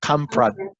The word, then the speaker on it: Kamprad: Ingmar Kamprad. Yeah. Very good. You remembered Ingmar. I don't even know how to pronounce like that.